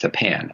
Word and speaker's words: Tappan: one reason or another the school district is pronounced Tappan as an you know hold to thing so